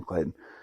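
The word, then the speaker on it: Claityn: name's this kid's name Clayton Clayton wow this this already seems bad for his kid right because it was Clayton Clayton right and it's spelled weird it's like see it's like c-l-a-i-t-y-n so I'm not gonna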